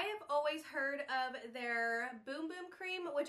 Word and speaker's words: Bum Bum: always heard of their boom boom cream which I thought was pronounced bum bum because as you can see here it looks like it's bum bum but it's actually pronounced boom boom and it's supposed to